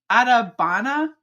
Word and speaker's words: Adabana: I always forget how to say this. I don't know what it is about the D and then the B. It like I want to say it backwards, but it's Adabana.